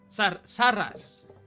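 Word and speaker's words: Saraz: Saras as it is spelled. Saras.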